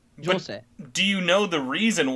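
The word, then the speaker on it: José: Because how you pronounce it would be Jose. Jose.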